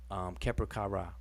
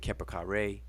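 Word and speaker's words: Kheperkare: Keper Kara. We spell it like this. People pronounce it Keper Kare. I like to stay more true to the Ra pronunciation instead of Ray. So Keper Kara.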